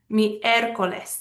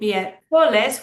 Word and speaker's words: miércoles: Miércoles. That ends in an S. That's Wednesday. We should stress the second to last syllable, but we don't say miércoles.